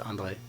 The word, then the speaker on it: Andrej: Do we pronounce the J? No, it's just Andre.